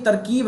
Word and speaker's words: तरकीब: देखो ये तरकीब है, इसको हम तरकीब बोलते हैं, आपने हिंदी में सुना होगा तरकीब। और ये होता है रहन, जैसे रहन सहन में जो आता है, इसमें सेम प्रोनाउंसिएशन यूज होता है, रहन सहन, और ये होता है तरकीब। अभी आप अगर नोटिस करेंगे तो इसमें ता और रा दोनों में ही कोई मात्रा नहीं है, या ये कह सकते